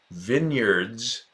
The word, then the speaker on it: vineyards: It looks exactly like vineyards, pronounced vineyards, and then no at after where.